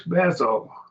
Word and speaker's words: Beth: The Hebrew word for house is Beth. Beth, we call it Beth, but Beth, I believe, is probably a better pronunciation.